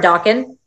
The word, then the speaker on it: Dokken: Speaking of students, is it Dokken? Am I pronouncing your name right? Hey, yeah, it's Dokken.